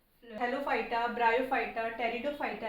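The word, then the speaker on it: Pteridophyta: पी से start है यह जो पी है यह साइलेंट है तो टेरिडोफाइटा में कंफ्यूज मत होना क्योंकि टेरिडोफाइटा की स्पेलिंग पी से स्टार्ट होती है और जो फलेरो गेम्स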